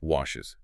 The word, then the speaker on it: washes: So English adds a whole vowel sound. We add E and S. She washes her face. Washes. 2 syllables.